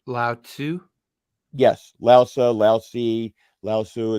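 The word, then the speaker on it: Laozi: were related to uh laosa who was the founder of taoism so what did you say Lao Tu yes laosa lousy laosu it's like it's you know there's different pronunciations to the name he wrote the Delta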